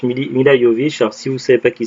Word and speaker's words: Milla Jovovich: willy à milla jovovich ça s'écrit milla jovovich mais se prononce millimes il a yo vischer si vous savez pas